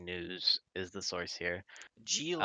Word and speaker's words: Ghislaine: G Lane. Um Ghislaine G Lane. That's how you pronounce it, apparently.